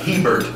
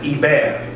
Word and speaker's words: Hebert: For those of you north of the Mason-Dixon line or north of Alexandria, that is not Hebert down here, that is Hebert.